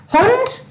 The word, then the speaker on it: Hund: like friendly doesn't it hund sounds like hound ram in den garden